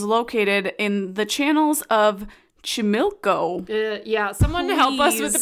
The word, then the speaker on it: Xochimilco: So, the Island of Dolls is located in the channels of Chimilco. Someone help us with the pronunciation there. Because my Spanish is not good. It is Xochimilco.